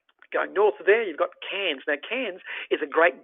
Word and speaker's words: Cairns: north there you've got cans now cairns is a great gateway here i said that it's pronounced cans like a beer can so you hold your